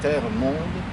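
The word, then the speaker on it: Termonde: ville qui en français porte le nom de terre monde prononcé terre monde comme s'il s'agissait d'un roman de r des yeux ou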